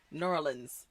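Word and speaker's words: New Orleans: they're in they're in norleans that's how you say it norleans Nola yeah they're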